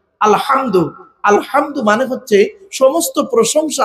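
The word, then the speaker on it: الحمد: বোনেরা শুদ্ধ করে নিন আলহামদু এ গলার ভেতর থেকে হে টা উচ্চারণ করবেন আলহামদু আলহামদু মানে হচ্ছে সমস্ত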